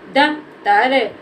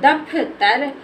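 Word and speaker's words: दफ़्तर: से पढ़ दिया द दप्तर अगर इसको पढ़ दे दफ तर तोय हमारा गलत हो जाएगा क्योंकि हमें इसके फ को बोलने में ज्यादा टाइम नहीं लेना है इसको जल्दी बोलना है तो दप तर दप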